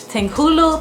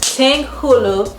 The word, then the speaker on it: tanghulu: she said it but i think it's ting hulu yeah tang hulu so if y'all don't know